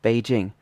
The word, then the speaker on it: Beijing: the capital of China Beijing in English would just be pronounced in a flat tone but in Mandarin it should be a third tone plus a first tone um so for example